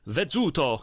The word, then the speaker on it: Vezzuto: I'm just spreading happiness around the world by telling people to pronounce my name the Italian way. All right. There you go. So please call me Vezzuto and buy my book, Extreme Music.